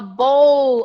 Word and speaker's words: bowl: of course not right the right pronunciation is I ate a bowl of cereal with milk I broke my bowl in a hundred pieces at breakfast and my wife asked me to buy a rice bowl in a flower bowl in a coffee bowl and Fred Flintstone loves to bowl with Barney to play bowling with Barney to bowl so it is not